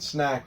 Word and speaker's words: snack: to do this is forget about the SN sound, because that is exactly the same in both, and focus on the end of the word. Of course, in snake, you should be just focusing on ache, and snack, you should just focus on ack.